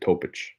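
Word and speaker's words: Topić: Lakers so 17 uh topic that's how you say his name topich the other Nicola yeah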